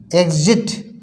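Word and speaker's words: exit: मीस परीक्षा इसी तरह से ई एक्स आईटी एग्जिट एग्जिट मीस होता है एग्जिट निकास द्वार जहां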